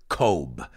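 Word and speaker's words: Cobh: map you'll have to look it up as kobe with an h at the end kobe in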